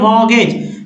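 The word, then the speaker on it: mortgage: मॉर्गेज, MORT, तो टी को नहीं पढ़ना है, ये अलग से एग्जेप्शन के रूप में समझिए, यहाँ STN नहीं है।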